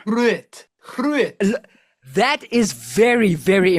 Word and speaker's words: Groot: Groot, you've got to roll your R. Groot.